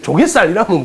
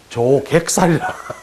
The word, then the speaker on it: 조객살: 조사는 들어봤죠 어 여기 이거를 발음을 잘 하셔야 됩니다 형님 이걸 잘 하셔야 돼요 이거를 조개살이라면 큰일납니다 조객살이라이 조개살 이러면 뭐 그런 살이 어디